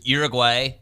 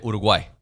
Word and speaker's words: Uruguay: you pronounce it Uruguay it comes out automatic for me is uguay but I say Uruguay yeah like it's supposed to be I don't know I